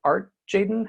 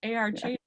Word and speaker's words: ARTjaden: When I started my business, I was like, oh, everybody will know it's ARTjaden because my last name is, but my initials spell art, so I was just like, oh, I'll just make it like the whole thing. So ARTjaden, you said it right.